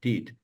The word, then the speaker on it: petite: Usually, very often in petite, unless there's a reason not to, that Right. first muti you'll get dropped and you'll hear petite. Petite. Mhm. Petite. Let's listen to And that. unless it creates a different problem, you can't say une petite fille because there's too many consonants in front, but you say un petit garçon, and the PT sound just kind of comes out together.